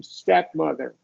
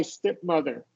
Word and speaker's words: stepmother: Stepmother. Sorry, I didn't get that. What When was when the? you when you read, it sounded like a short I stepmother instead of stepmother.